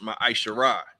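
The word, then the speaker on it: מעשר: Malachi 3 verse 8-10 means 10th in Hebrew and is pronounced ma isar 10% of every penny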